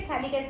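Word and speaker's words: phthalic: ठीक है, थैलिक एसिड में T साइलेंट होता है।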